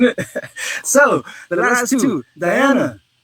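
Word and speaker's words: dhyana: so the last two diana doesn't look like it says that but that's what i'm pretty sure that's how you say it diana d white d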